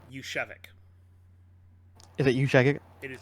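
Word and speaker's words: Juszczyk: Yushevik. Is it Jusiek? It is. I thought it was Jusiek. Nope, Yushevik.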